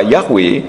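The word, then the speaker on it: יה: atau adonai cara mudahnya huruf Yod he dibaca yah contohnya di dalam kitab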